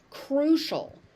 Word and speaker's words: crucial: Crucial. Crucial. So the ci becomes a shh sound.